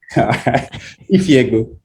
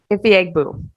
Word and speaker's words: Ifiegbu: Ifiegbu. Ifiegbu. Yeah, it's literally pronounced how it's spelled.